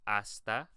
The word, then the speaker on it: hasta: We're going to go over it separately, but the first thing is the H, once again, is silent, so you just say hasta.